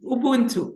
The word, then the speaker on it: Ubuntu: Ma'am, have I pronounced the word correctly, ma'am? Ubuntu, is it correct? Yes, it's Ubuntu.